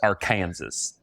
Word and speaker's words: Arkansas: Ogdensburg, New York, our Kansas City, Kansas, which is spelled Arkansas, but because it's in Kansas, they're like, "It's pronounced our Kansas."